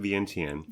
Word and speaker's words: Vientiane: We're talking about Vientiane, but we pronounce it Vientiane.